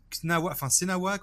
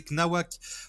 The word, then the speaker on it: cnawak: la prononciation, c'est vrai que j'avais dit, tu vois, que sur Twitter, j'avais dit oui, Senawak, en fait, c'est Knawak, en référence à Cthulhu, tu vois, le dieu